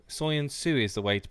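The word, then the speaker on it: Söyüncü: Or apparently it's Soyuncu. Soyuncu is the way to pronounce his name.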